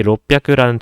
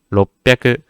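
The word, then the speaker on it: 六百: 이 롯백이라는 단어 자체가 발음하기가 조금 힘듭니다. 한국어 그대로, 한글 그대로 적었을 때는 롯백이라고 적을 수 있겠지만 이 비읍 받침을 끌어주셔야 돼요. 그래서 롯백이 아니고 롯백이 약간 이 비읍을 좀 지려 밟고 가듯이 롯백이 제가 입을 한번 앙 다물어요. 롭하고 다무는데 이 다무는 텀을 조금 주셔야 돼요.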